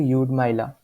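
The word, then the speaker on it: Lyudmyla: ठीक है, यहाँ पे एल साइलेंट रहेगा तो यूड माइला।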